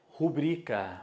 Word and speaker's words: rubrica: recorde recorde recorde depois outra que se erra muito mesmo essa aqui ó é o certo é rubrika faça uma rubrica em